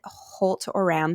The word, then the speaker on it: Holt-Oram: advocate and you grew up with, is it Holt-Oram Syndrome? Am I pronouncing that Yes.